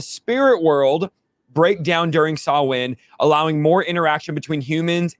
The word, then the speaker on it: Samhain: Channel's article on sawin some call it Sam Hayne it's pronounced sawin because it's not a